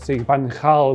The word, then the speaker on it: Van Gaal: Van Gaal is how you say it, really, that's how you're supposed to say it.